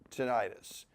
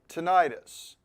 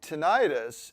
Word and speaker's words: tinnitus: But in tinnitus, it is pronounced with a short I, okay?